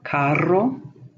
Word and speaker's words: carro: But the double R is where you're going to roll, if you can. Carro, burro.